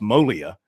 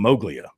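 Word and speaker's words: Moglia: Joe Mogia. It's actually pronounced Molia. That's how they pronounced it back in his homeland of the north, but down here it's become Mowglia.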